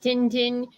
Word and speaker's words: Tintin: not speak confused with Tintin or Tintin we all know and love you know but that's a Belgian character yeah but the Belgian character and in Belgium they pronounce it Tintin but like in Latino